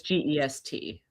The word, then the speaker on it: Gest: Is it just or guest? I think it's pronounced guest, but it's gest.